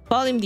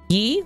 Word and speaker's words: ye: Okay, here's another thing with Old English. Ye? Y-E? Pronounce the. They just spelled it funny. But when they actually said it, it was just the...